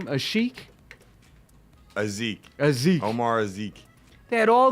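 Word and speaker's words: Asik: They had Omar, how did you pronounce his last name? Azik.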